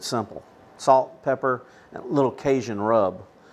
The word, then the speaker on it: Cajun: salt pepper a little Cajun rub Kazon if you wanna say it pronounce it properly hey mr.